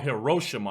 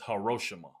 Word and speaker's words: Hiroshima: He recalled how, it's called Hiroshima. I said it wrong. My bad. It's Hiroshima.